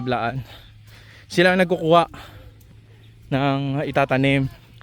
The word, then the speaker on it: Blaan: mga kasama nating mga bilaan blaan yung pagpronounce sa kanila blaan sila ang nagkukuha ng